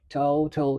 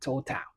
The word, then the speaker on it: total: So we have to hey listen to the word totto and not total.